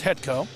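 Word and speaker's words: Hetcko: Goaltender Andrew Hetko, even though it's spelled differently, you keep the C out of there, so it's Hetko.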